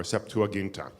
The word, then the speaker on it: Septuagint: we go back to a document called the Septuagint which some people call these Septuagint or septuaginta septuaginta comes from 72 the Iowa comes from 70 but we round it